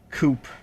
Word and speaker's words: coup: the way it is what is the point with the p if it's if it's just a coup a coup um it is really